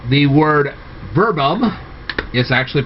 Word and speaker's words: verbum: Now the thing is that if you ask some Latin teachers, they'll call it verbum, because they pronounce all the V's as W's. But whichever way you want to go with this, there you go.